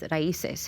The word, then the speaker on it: Raíces: which now the theme of this year, correct me if I'm wrong, the pronunciation is Raíces. Is that correct?